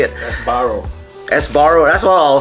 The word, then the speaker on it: Sbarro: don't know how to ever say it esaro Sbarro that's what I'll say it as I always pronounce it as esbar but this is the slice I'm going to